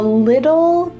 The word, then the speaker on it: little: But really in American English, those T's are going to become D sounds.